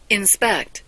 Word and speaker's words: inspect: S respect 하면 자기 존중이라고 합니다 이번에는 인입니다 발음 들어보세요 inspect 예 강세가 뒤에 있네요 점검하다 검사하다 말인데이 인이라는게